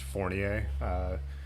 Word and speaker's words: Fournier: and it was david it's pronounced french fournier park really pretty park i